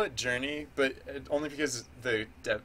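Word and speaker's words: JRNE: project I call it Journey but only because the de the dev name is spelled j r n e and I pronounced that Journey it's like the uh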